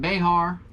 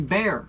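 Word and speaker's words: Bexar: Now, I've been pronouncing it Behar or Beexar. I apologize. It is actually Bear Anglers. The X is silent.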